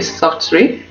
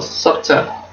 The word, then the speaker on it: Softr: So wait for give soft t a pronounce this word. I just call it soft or softer a try.